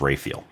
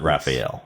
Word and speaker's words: Raphael: Uh no, because her name is actually pronounced Rael. Jun Rael. You're right about that. Yeah, it's not Raphael.